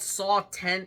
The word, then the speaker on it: Saw X: he deliver saw 11 well the jurries finally decided it was called saw 10 and not saw X based on this unless